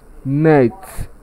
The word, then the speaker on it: net: The option D is known as net, but most of us pronounce it as note. The letter O there is represented by schwa sound, and that's how we say there is nothing like O sound in English.